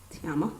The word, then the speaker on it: Tiamo: facebook Tiamo t s I am a Tiamo that's how you pronounce my name um snapchat I believe